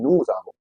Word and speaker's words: nous avons: I am saying nous avons, because if the following word, after the words end with s, if the following word starts with a vowel, we pronounce that s as z.